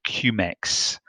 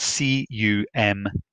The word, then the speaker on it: cumecs: And it is calculated, or it is not calculated, it is measured in a unit called cumecs. That is spelled C-U-M-E-C-S, and they're all in capitals.